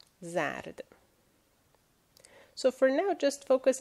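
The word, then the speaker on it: زرد: So the word is zard. It means yellow, the color. This is ze, this is re, and this is dal. Zard.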